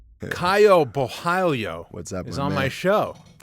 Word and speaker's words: Borralho: how to say it it's still tough to pronounce yeah right how do you say it boo Balo yeah Balo it's like that L Claudia gelia the L